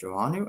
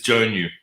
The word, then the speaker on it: Joannou: a million leaders today we're speaking with Janu am I pronouncing that correctly no but no one gets it right it's fine how do you pronounce that it's jonu jonu oh yeah I would not have got that